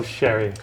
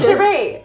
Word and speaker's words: Cherie: Oh, Sherry, She's not wrong. It's Cherie, and the emphasis is on the last syllable.